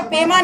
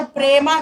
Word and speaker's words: पेमा: थोड़ा तकलीफ होता है, वो पेमा नहीं बोलते, वो प्रेमा खांडू बोलते हैं।